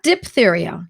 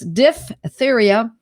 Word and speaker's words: diphtheria: It's not diphtheria. It's D-I-P-H, because there's that PH sound is a F sound. So it's diphtheria, malaria, and the aftermath of a miscarriage, blood poisoning, and its related effects.